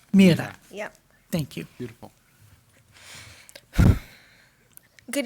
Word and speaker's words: Mira: It's pronounced Mira. Mira.